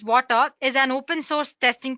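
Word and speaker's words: Watir: water w a TI basically it's pronounced as water is an open- Source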